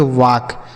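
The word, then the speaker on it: walk: जैसे यहां पे था वैसे ही यहां पे एल साइलेंट होगा। के से क। इसे हम पढ़ेंगे वाक।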